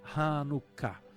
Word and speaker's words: Hanukkah: Chanukkah, que escreve e pronuncia Hanukkah.